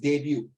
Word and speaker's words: debut: Debut 就是第一次 Okay, you pronounce it debut. You don't believe, you type debut and Google and they'll play the word debut, not debut.